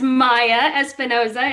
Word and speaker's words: Maia Espinoza: And thank you for pronouncing my name correctly. It is Maia Espinoza.